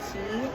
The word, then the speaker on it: Qi: FYI, you can use a wireless charging pad that is not the tandem Mobi specific one, as long as it is a QI, I think it's pronounced key charging pad, and it is not magnetic.